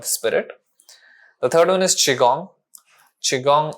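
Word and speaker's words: qigong: yourself or the spirit the third one is chiong Chong it's spelled as it's spelled as Qi and gong but I like to spell it as Chong Chi because it pronounced as chiong it's a Chinese traditional practice it's a lot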